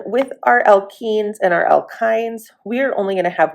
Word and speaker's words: alkynes: And and then we have alkynes. And again, this is kind of pronounced i n e even though it's spelled with a y.